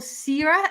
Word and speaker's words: Siera: morning in Sydney and I have the wonderful Sarah is that how I pronounce it by the way yeah it's funny